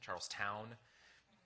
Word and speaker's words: Charlestown: How is it pronounced? Is it Charleston? Charlestown?